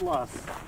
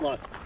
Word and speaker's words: loess: This is loess. How do you spell that again? Loess. Loess. Yes. So it's not lust.